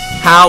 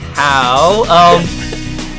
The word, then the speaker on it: Howe: Who, but Howe with an E. Howe with a silent E. Right? Kind of like a silent E, but it's like how. We were here with Howe.